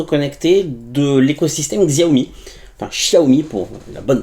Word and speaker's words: Xiaomi: Alors aujourd'hui on va parler d'une nouvelle montre connectée de l'écosystème Xiaomi, enfin Xiaomi pour la bonne prononciation.